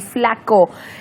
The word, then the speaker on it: Fla-K.O.: es cuando digamos Dj flaco es flaco o FL K eh se escribe Así es flaco se pronuncia Flaco pero se escribe FL